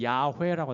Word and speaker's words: 야훼: 이 중간에 모음을 넣으면은 여기다가 요드해 바브해에다가 중간에 모음 넣어서 야훼라고 하는 거예요. 야훼. 또는 영어 발음으로 하면 여호와라고 하는 거예요.